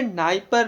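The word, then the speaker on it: Dnieper: इसे नाइपर नदी बोला जाता है, इसे नाइपर नदी बोला जाता है। डी का प्रोनाउंसिएशन यहाँ पर नहीं किया जाता है।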